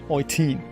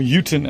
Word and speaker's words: Eutin: So yeah, Eutin. Or Eutin, as you probably pronounce it in the English-speaking world.